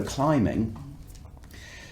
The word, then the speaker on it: climbing: but it's not climbing the bee is silent we omit the bee it is climbing so if you go climbing you're worried that you're